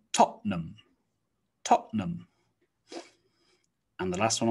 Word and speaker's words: Tottenham: nottingham next one's interesting looks like tottenham tottenham but usually we just say tottenham tottenham and the last